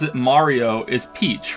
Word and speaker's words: Mario: But it's not Murio. I'm not even American. Who says Murio? No, who the fuck pronounces his name Murio? I think the only one in the games that says it Mario is Peach, right?